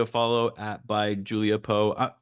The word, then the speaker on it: Poe: to give Julia a follow at by Julia po it's it's pronounced po correct yes yeah just want to make sure